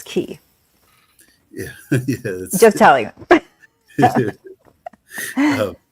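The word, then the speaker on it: Caye: way when we say key um it is spelled c a ye but it's pronounced key so people sometimes say k but that is not correct it's key yeah yeah just telling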